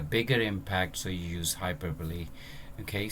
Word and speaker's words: hyperbole: Or for exaggeration we actually use hyperbole, so to give further emphasis or effect. Like if you want to create a bigger impact, so you use hyperbole. Okay, so its pronunciation is like hyperbole.